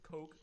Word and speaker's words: Koch: Made by Heckler and Koch, or Heckler and Koch, however the hell you want to pronounce it. I say Koch.